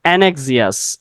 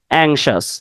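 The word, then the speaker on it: anxious: জানিও না এই প্রোনাউন্সিয়েশনটা এটা হচ্ছে আমরা বলি অ্যানক্সিয়াস অ্যানক্সিয়াস বা এনেক্সিয়াস এরকম উচ্চারণ করে থাকি কিন্তু উচ্চারণটা হবে উচ্চারণটা কি হবে অ্যাংশাস এটা অ্যানক্সিয়াস হবে না অ্যানক্সিয়াস হবে না উচ্চারণটা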